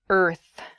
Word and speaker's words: Earth: to practice your pronunciation it is the word Earth Earth that R and the th sound can be difficult to pronounce together IR F Earth so